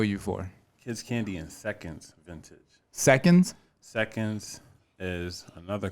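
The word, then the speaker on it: Sekendz: yo i can't wait seconds is spelled s-e-k-e-n-d-z stands for second chance as you know i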